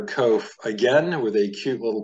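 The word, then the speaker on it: קוף: And you would pronounce this word kof.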